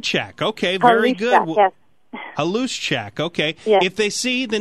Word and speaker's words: Haluszczak: the 14th district yes I am it's check okay very good well a loose check okay if they see the name on